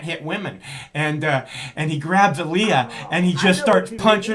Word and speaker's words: Aaliyah: And I don't know if you remember the scene, but there's this scene with Aaliyah, and is that how you pronounce her name?